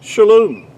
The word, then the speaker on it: shalom: a O, but it's only because of vowel points do we have the O sound. It's pronounced, really, to be more accurately, would be shalom.